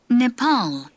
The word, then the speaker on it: Nepal: 먼저 Nepal, 네팔, 웬 니? 네, 네팔 이렇게 발음해야 돼요.